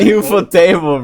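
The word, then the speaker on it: ufotable: is it UFO table it's UFO table bro it's like table like the one the room I'm American leave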